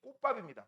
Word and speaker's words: 꽃밥: 꽃가루가 나오는 역할을 하는 그 생식기관이 꽃밥입니다. 발음 조심하세요. 꽃밥이야. 지읒밥 아니야.